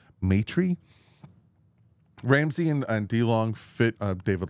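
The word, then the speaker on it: Maitre: Matry continues to make some noise. I think that's how you pronounce his name. M-A-I-T-R-E. Matry.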